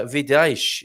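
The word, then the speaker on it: Vidais: oh video vidash uh vidaesh is how i pronounce it anyway it's v-i-d-a-i-s uh the town up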